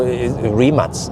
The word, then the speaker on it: Rimac: s in the big that's just the way supposedly in croatia the c and the n becomes a cs sound so rematch yeah so but should i call it rimac or should i call